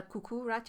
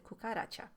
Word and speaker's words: cucaracha: me up the wall it's not a cuckoo Racha it's a cucaracha he was purposefully mispronounces